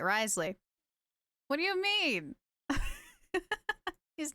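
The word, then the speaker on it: Wriothesley: A free Riotsley waste of a pull? What do you mean a free Riotsley? Risley. I need to say his name right. Risley.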